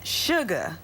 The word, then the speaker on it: Suga: We are here today with Shay, and she pronounces it Sugar, but it's spelled S-U-G-A.